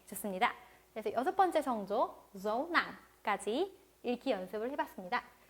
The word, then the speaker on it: dấu nặng: 자, 마지막 성조의 이름은 dấu nặng, thanh nặng. 네, 자, 읽어볼게요. dấu nặng, dấu nặng. 네, 성조의 모양이 알파벳 아래 점이 찍혀 있어요. 그래서 점 찍듯이 읽어주시면 됩니다.